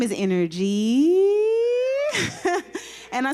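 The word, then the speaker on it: Innergy: Now, my name is Energy. And I spell that I-N-N-E-R-G-Y.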